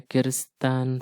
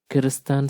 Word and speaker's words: Christian: the murder of a kuristan sister kirsten is actually christian it is a sandal way of pronouncing christian murder of they were accused of the murder of a karistan sister christian sister she